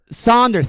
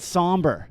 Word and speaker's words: sonder: Sonder. Thank you. I said somber. Sonder. Thank you. Thank God. Spell it. Is it Sonder? Yes, it is. Sonder.